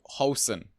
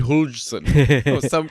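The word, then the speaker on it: Huijsen: In comes Housen. Apparently, is how you pronounce it. Housen. You should have heard how I butchered it on the Inside Tracks, by the way. I went Hulsen. some crap like that.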